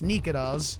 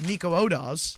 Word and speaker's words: Nikodas: thought that's how it was pronounced, and it's Nikodas. It's Nikodas, yeah. People were like Nico Odas. Yeah, that's no, not, yeah. no. It's just that's not how you say it.